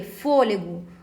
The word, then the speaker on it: fôlego: Nossa resposta letra de fôlego fôlego recebe acento por ser uma proparoxítona né Porque só antepenúltima sílaba tônica portanto não é por